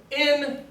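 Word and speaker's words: ἐν: is in the words in and the word hin. I know to pronounce the top one as in because it has a smooth or unaspirated diacritical, and the bottom one is hin.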